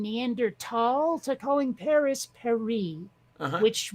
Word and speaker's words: Neanderthal: the way I figured if they wanted it pronounced Neanderthal they should have left that H out from the beginning yeah but now you